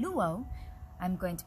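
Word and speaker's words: lūʻau: and this word is luo lu o that is the olelo hawaii the hawaiian language pronunciation of that word which is most often heard as luau a hawaiian luau i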